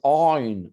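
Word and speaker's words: ע: Et d'ailleurs, on va prononcer ça à la manière sémitique, on va dire aïn, aïn. C'est dans la gorge qu'on doit l'entendre.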